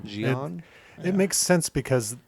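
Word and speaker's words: Xi'an: how was it pronounced Jian Jian it makes sense because the Twi'leks are very their accents and everything are very like French inspired and that's like a French pronunciation name nice they have you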